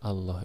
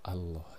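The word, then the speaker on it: الله: fathah maka ketentuan bacanya cara membunyikan lafal Allah nya kita harus agak tebal pada huruf lam nya dengan menyandingkan kosakata Oh dalam bahasa Indonesia jadi ibadahnya Bima angsa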